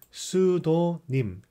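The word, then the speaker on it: pseudonym: 명이 이 뜻이다 보고 pseudo 이거는 피가 발음이 안 돼 싸이 컬트 psy 것도 발라드 g 그러니까 수도 님 이렇게 내수 더 님 가 명이나 필명 이게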